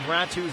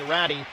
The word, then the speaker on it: Ratu: on the pronunciation of Ratu's last name. The coach before the game told me Ratty. That is her nickname. Ratu is how she'd like to be called.